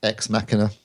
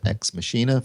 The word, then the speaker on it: Ex Machina: the other film is ex machina not to X mashina for those who can't pronounce it ex machina which is